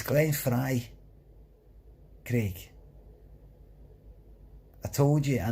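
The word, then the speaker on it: Frey: by going glenn a clown free it's glenn frye greg i told you i know it's permanent i know it's spelt for a bit it's pretty it's pronounced for eye for the eagles coin free it's called it's called frye you were going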